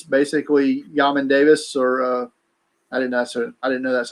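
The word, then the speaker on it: Jamin Davis: It's basically Yamin Davis, or I didn't know that's how you pronounce it.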